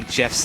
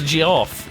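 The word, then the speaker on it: Geoff: case about how I actually used to say Jeff's name I always called me off oh my god his name is G off it's Jeff how dare you it's G off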